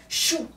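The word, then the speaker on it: Shu: tempêtes et échoue ok mais écrit s Hu mais il prononcé CHOU CHOU Dieu de l'atmosphère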